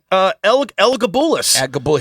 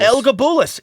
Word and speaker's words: Elagabalus: Elagabalus. His name is hard to pronounce, Elagabalus. Elagabalus.